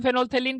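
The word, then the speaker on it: phenolphthalein: orange में आता है लेकिन फ साइलेंट राहत है इसको फेनोलिक प्रोनाउंस करते हैं यह काफी इंपॉर्टेंट है एक बार सीबीएसई में फेनोल्प्थालें के बड़े में पूछ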